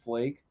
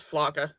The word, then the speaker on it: Flake: you know that actually his name is not pronounced flake yeah it's flanka that's right yeah that's nothing does he really